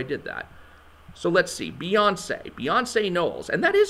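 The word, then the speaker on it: Beyoncé: please please do start saying her name properly beyonce not beyonce wow okay so dr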